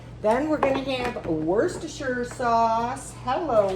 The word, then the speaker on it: Worcestershire: Then we're going to have Worcestershire sauce. Hello, Worcestershire sauce. I don't know why people don't know how to say that. They're always like, Worcestershire.